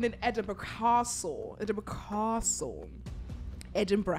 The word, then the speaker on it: Edinburgh: Edinburgh. How do you say it in your accent? Edinburgh. Edinburgh.